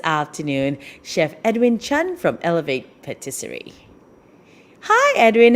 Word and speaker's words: Elevete: so which is it it's alibi elevate as in elevate your lifestyle elevate your taste nice so that's how